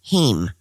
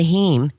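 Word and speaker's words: heme: is a protein found in plants that carry heem, which is an iron containing molecule. That's spelled H E M E. Impossible Foods say that it is the heem that gives Impossible Meats their meaty flavor, if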